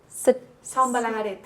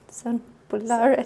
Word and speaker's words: Son Bunyola: I want to show you a villa whose name I sadly can't pronounce. And what is this one called? Son Bunyola. Son Bunyola. Son Bunyola.